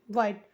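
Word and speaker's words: white: है देना ठीक है डब्लू एच आई टी ई वाइट डब्लू को लिखे ठीक है डब्लू को व लिखे और देखिए एच यहां पर साइलेंट है आई है तो ई हो गया टी को ट लिख दिए और अक्सर आप देखते हो कि हर स्पेलिंग्स के लास्ट में ई होता है जैसे हम पढ़ते हैं लिखते हैं लेकिन पढ़ते नहीं है तो हो गया वाइट वाइट का मतलब हो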